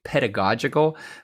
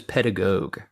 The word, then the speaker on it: pedagogical: And incidentally, I say pedagogical because I thought about this, because pedagogue, no one says pedagogue.